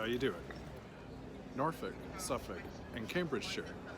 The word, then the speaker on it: Norfolk: words that are spelled Norfolk and Suffolk? So if you say Norfolk or Suffolk, you're gonna get a slap up the side of the head. Try Norfolk and Suffolk.